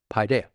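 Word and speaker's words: παιδεία: admonition is the Greek word pidea and it's the way it's pronounced pi deh pidea and so um but the word is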